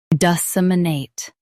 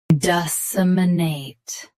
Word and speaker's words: disseminate: Today, we will learn how to pronounce the word shown on the screen, disseminate. Both US and UK have the same pronunciation of this word. Stress, nate. Keep suh and muh soft. Disseminate.